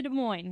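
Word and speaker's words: Des Moines: And so today we are going back to De Moines. Is that how you say it? Yeah, you nailed it.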